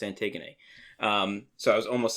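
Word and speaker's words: Antigone: It's spelled like anti-gone, but it's pronounced antiggony.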